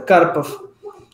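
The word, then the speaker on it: Карпов: Seria Karpov. Ah, muito semelhante, né? Porque geralmente a sílaba tônica não é a última, né?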